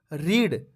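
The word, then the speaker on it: read: यह आप याद रखेंगे रीड रीड की पास्ट फॉर्म की स्पेलिंग यही होती है लेकिन उच्चारण होता है रेड रीड रेड रीड और थर्ड फॉर्म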